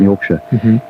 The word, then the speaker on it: Yorkshire: Shire, which is how it's pronounced if it's a word in itself, or sh, as in Yorkshire, so it means something like a county.